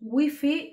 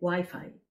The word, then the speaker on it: wifi: sobre todo por wifi en españa decimos wifi y además es la wifi en femenino en latinoamérica respetan la pronunciación inglesa y además lo consideran masculino el wifi internet o el internet